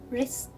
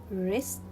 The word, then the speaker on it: wrist: letter w wrong wrong rest wrist i will not pronounce letter w because it comes before letter r so here i will see wrong i will read it rest i will read here